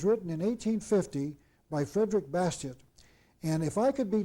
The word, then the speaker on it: Bastiat: the name of Frederick Bastiat. You might pronounce that Bastiat, but I pronounce it Bastiat because I'm not French.